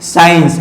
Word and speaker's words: science: ठीक है, साइंस, SCIENCE, साइंस।